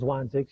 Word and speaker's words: Zwanzig's: It's called Zwanzig's. You did pronounce it correctly.